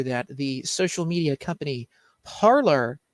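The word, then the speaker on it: Parler: the social media company parlor that was up and running uh was taken pronounced parlay thank whatever you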